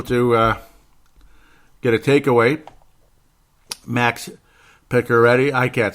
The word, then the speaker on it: Pacioretty: But Pacioretty, that's how they say it.